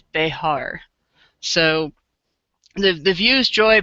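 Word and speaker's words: Behar: up it's uh the the pronunciation is bear so the the views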